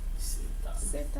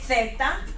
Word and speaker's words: zeta: But in Spain, remember this Z and C are pronounced like a TH sound and thick, like in the word thick. Okay? Theta, theta, same thing.